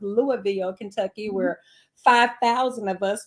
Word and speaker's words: Louisville: I used to call it something else, but they said it's pronounced Louisville, Kentucky, where 5,000 of us were gathered on